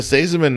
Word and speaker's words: Seesemann: whatever little town we were in you can't pronounce it and and the the front desk goes ah mr saziman nice to see you today and i went